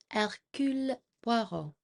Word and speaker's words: Hercule Poirot: Detective Hercule Poirot.